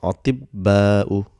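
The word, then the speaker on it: أطباء: So this ta, because it has got sukoon for pronunciation, it becomes ti, and ba will get a shadda. So it becomes atibba'u.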